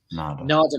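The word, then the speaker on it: Narada: Yeah, what's interesting about some of these people, like Nada is actually how you pronounce it. Nada, Michael Walden, and Jay Graydon, and Greg Matheson.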